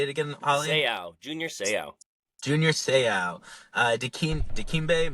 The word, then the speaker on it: Seau: Seau, Junior Seau.